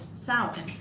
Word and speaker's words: Samhain: So today I actually talked about Samhain, and some of you guys might know it as Samhain, but that's actually how it's supposed to be pronounced, is Samhain.